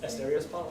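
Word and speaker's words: Asterios Polyp: Asterios Poly?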